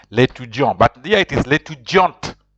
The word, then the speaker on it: l'étudiante: But here it is l'étudiante. If you put an e after the last consonant, if there's an e, you pronounce the last consonant. So you have to pronounce the t.